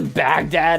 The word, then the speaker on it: Baghdad: There's a Baghdad, Arizona. That's unfortunate. It isn't spelled the same as the country or as the city. Uh, but it is like literally a bag and a dad.